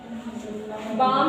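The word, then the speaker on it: balm: बाम form, अब देखो M के पहले जब L आया है, M के पहले क्या आया है?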